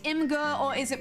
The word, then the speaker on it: Imgur: It's pronounced Imgur.